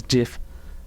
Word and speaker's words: Jeff: His name's Jeff, but the way he pronounces it is Jiff.